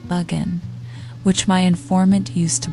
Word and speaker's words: Bergoin: a famous foxhound named bergoin he pronounced it Bugan which my informant used